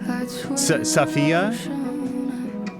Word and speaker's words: Safi: I'll just catch up with Sophie tomorrow. Oh, and we heard it there when she picked up the phone. It was Safia. I don't think I was doing it correctly, saying it correctly before.